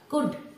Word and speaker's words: could: তো পোলাইটলি কোনো প্রশ্ন করার জন্য আমরা কুড, COULD, L silent, কুড অথবা would অথবা পারডন মি মানে কি আমাকে ক্ষমা করবে।